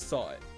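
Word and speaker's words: Sahwit: So his name is Sawit.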